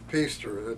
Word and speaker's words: Piester: So for this interview, just consider me Piester. Piester is spelled P-I-E-S-T-E-R, and to pronounce it, it rhymes with Easter.